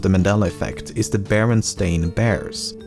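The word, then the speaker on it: Berenstain: and instead called him Bernstein. Thirdly, the son of the creators has said that barely anyone pronounced it correctly when he was growing up and he was most frequently called Baronstein or Bernstein.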